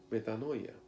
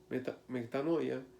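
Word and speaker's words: μετάνοια: expresa la renovación de nuestra mente es pronunciada pronunciada metanoia metanoia significa un cambio de manera de pensar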